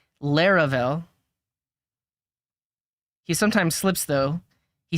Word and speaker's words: Laravel: you're here for okay how do we pronounce Laurel I've heard lurel for everyone except its creator Taylor otwell whom usually pronounces it laravel he sometimes slips though